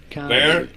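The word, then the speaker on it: Bexar: Bear. There we go. Bear.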